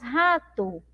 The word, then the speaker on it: rato: rato não é verdade nós pronunciamos rato rato então é a gente entende ali que tem uma letra U inclusive na última aula